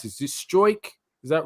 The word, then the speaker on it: Struijk: How do you pronounce this? Is it Struijk? Is that right, Tom? Struijk, yeah.